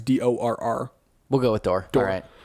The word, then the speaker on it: Dorr: Apparently, Dorr, I think I'm pronouncing it right, it's DORR.